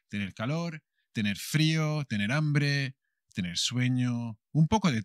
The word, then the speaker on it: hambre: bird jandri tener hambre hambre tener hambre el apetito el hambre con la h que no se pronuncia que como siempre es muda with feeling hungry tener